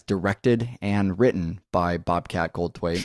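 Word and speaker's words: Goldthwait: and written by Bobcat gold TW that's how you pronounce that gold TW it's not that hard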